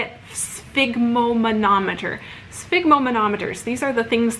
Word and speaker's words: sphygmomanometer: If you don't know how to say it, sphygmomanometer.